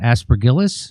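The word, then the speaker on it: Aspergillus: Aspergillis.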